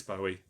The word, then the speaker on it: Bowie: The problem is that word, the way you spelt it there, Eric, can also be pronounced in 2 different ways. You know, as in David Bowie or Bowie. It's Bowie.